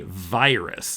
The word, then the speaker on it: virus: But Americans say virus. Virus. Yeah. I think this is a case where traditionally in languages of Europe, the letter I is an E sound.